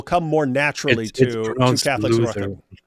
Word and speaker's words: Luther: Luther. It's pronounced Luther, not loser.